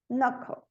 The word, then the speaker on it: knuckle: Knit, knob, no, knuckle. O L não é pronunciado em cough, talk, could, should, would.